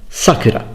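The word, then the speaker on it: 桜: The name is Sakura, and it's pronounced Sakura. So not Sakura, for example.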